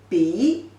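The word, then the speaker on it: 鼻: So together, the pronunciation is B. B means nose.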